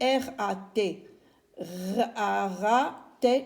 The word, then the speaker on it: rat: Et on a rat, R-A, et la lettre T qui ne se lit pas.